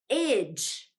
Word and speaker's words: -age: We pronounce that as idge, idge.